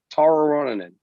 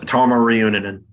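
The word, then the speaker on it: Tarmo Reunanen: So I would say what they should be doing is take a look at Tara Ronanen. Is it, did I pronounce it right? Tama Reunanen. Tama Reunanen.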